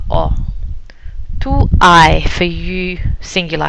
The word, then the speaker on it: ho: Very important that you know in Italian we don't pronounce the H. H is silent. So io ho.